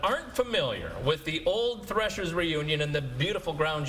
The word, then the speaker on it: Threshers: Is it old threshers? Old thrashers? How do you pronounce it? Cuz I've heard both and I told folks I would ask you guys live on the air to get the record set straight. So threshers with an E or for our HANA